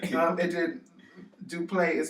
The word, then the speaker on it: Duplaix: Duplay is spelled Duplaix. What? So, I mean, I'm thinking that it's silent, like the I and the X is silent.